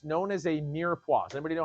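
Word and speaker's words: mirepoix: It's known as a mirua. Does anybody know how to spell that? Well, besides, it's spelled M I R E P O I X. It's pronounced mirua.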